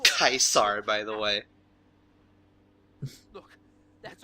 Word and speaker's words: Caesar: heard you were Toledo's boys, I think it's pronounced Kaisar, by the way.